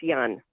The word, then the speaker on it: Johan: Yan Hans Hans uh spell J an but in German it's Yan yeah okay s to